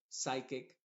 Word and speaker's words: psychic: como una ch chow y en palabras que empiezan con PS la p es muda y la s suena como s por ejemplo psychic psychology eh qué más